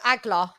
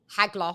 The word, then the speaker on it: Hagler: just wanted to know agler AG Hagler sorry never pronouncing H's Hagler um okay I just